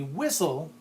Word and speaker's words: whistle: so a referee sounds this word with a silent T in it to signal an infraction that be a whistle whistle or as I